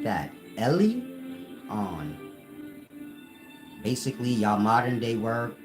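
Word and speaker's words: Elyon: in ancient Hebrew Lan it's pronounced Ellie like e l y Ellie like Jesus said Ellie Ellie llama llama or whatever he said like that Ellie on basically your modern day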